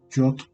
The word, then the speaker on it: Yod: Como ven aquí, la primera letra se le llama Yod, ¿sale? O se pronuncia como Yod.